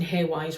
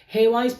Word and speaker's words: Hawise: Hawise ask, I do know that I'm pronouncing Hawise wrong, by the way. It's Hawise. Is it supposed to be Hawise or something like that? I've always pronounced it Hawise. I'm from Yorkshire.